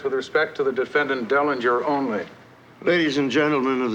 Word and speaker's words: Dellinger: respect to the defendant Derringer. I think Your Honor means Dellinger. Dellinger, that's right.